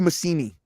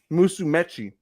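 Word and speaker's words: Musumeci: the first time how do you say it musumechi music that's right um dude by the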